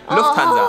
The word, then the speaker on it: Lufthansa: So the U is shorter. Lufthansa. Oh my god. Small but important difference.